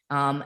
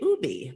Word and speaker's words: ube: time two years ago I learned they say Ubie but America a lot of Americans say U so it's not totally incorrect but anyway U is